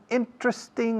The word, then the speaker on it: interesting: Interesting también son 3 sílabas en vez de 4. No interesting, aunque se diga por ahí. Hay gente que dice interesting, pero la mayoría decimos interesting. Los británicos también.